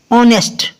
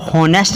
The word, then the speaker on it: honest: तो नेक्स्ट है HONEST ऑनेस्ट। ऑनेस्ट होता है ईमानदार। अब यहाँ पर इसको हॉनेस्ट नहीं पढ़ते, और बहुत से लोग